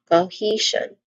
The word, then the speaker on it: cohesion: Pronunciation wise there's only three distinct sounds starting with co which has a it has a dip thong sound. So the dip thong sound here is o again o. Uh next to that is he. Again, he cohesion. One more time. Cohesion. And lastly, we have s i o n symbol sounds like jean.